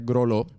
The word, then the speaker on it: Graulau: Se escribe Graulau, pero se pronuncia Groló.